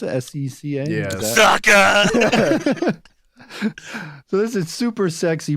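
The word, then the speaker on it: Seca: I had Easton Secca. Is that how you pronounce it? S-E-C-A? Yeah. Sucker.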